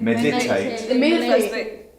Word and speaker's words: meditate: wrapping so um meditate how many syllables does meditate got three three okay and where's the stress where's the emphasis which syllable is the table did you say do you think it's meditate or meditate or I think it's meditate yeah the first syllable meditate I'm gonna try